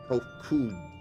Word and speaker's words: Hofkud: As for nomenclature, to address my individual person, I believe the pronunciation Hofkud.